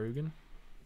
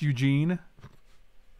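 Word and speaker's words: Ugin: they had that for our ugen it's pronounced eugene look here it is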